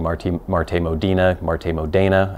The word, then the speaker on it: MarteModena: saying Marte Marte Modina Marte Modena I think that's how you would actually pronounce it in Italian it is made out